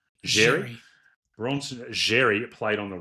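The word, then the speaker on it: Xerri: Bronson, is it Jerry or Cherry? How do you say it, Danny Boy? Jerry.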